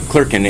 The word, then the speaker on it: Clerkin: is your name sir Kirkland Clarkin klerken and can you spell that for me CL AR K and and